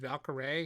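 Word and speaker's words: Valkyrae: tim the tatman and valkerae is how he pronounced her name because i remember him announcing it at the during the nominee announcement uh on youtube yeah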